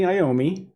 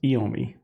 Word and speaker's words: Iommi: The members of the band, Tony Iommi, which I think is how people pronounce it, although my Italian is telling me it should be pronounced Iommi, but we'll just call him Tony.